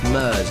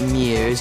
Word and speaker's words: Murs: dem neuen Superstar Olly Murs. It's pronounced Murs, not Mears.